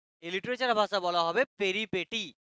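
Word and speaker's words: peripeteia: তো ভাগ্য ফেরাটাকে এই লিটারেচার ভাষা বলা হবে পেরিপেটি, বানানটা পেরিপেটিয়া, বাট পেরিপেটিয়া বলবো না, পেরিপেটি বলবো, ঠিক আছে?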